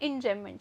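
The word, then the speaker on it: enjambment: जो कि होता है इन जमेंट क्या होता है इन जमेंट ठीक है यहां पे जो ये बी है ये साइलेंट रहेगा तो यहां पे याद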